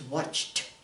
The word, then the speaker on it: watched: And it has the ed, but we pronounce it watched, not watched, and not watched, it's watched, watched.